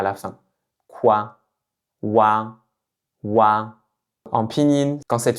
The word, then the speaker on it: ua: Dans cette vidéo, on va voir la finale wa wa donc il s'écrit avec u et a. Donc on peut le voir comme une combinaison des finales ou et a qu'on a vu précédemment. Vous pouvez aussi le voir comme le son qu'on dit dans quoi en français, le wa à la fin.